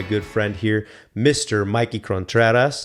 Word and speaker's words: Contreras: Mikey Contreras. Did I pronounce that right? Contreras, yeah. Contreras. Yeah, you can say Contreras. I tried putting a little fling on that.